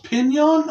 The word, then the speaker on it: Pinion: Directed by Charles Pinion, I believe is how it's pronounced. Pinion? Not P-I-N-O-N like pinions. With the little hyphen on the end. P-I-N-I-O-N. Pinion? So, but I think it's pronounced pretty much the same.